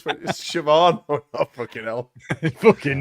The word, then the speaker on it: Siobhan: It's Siobhan. Oh, no, fucking hell. Fucking not. Have you seen how they spell it?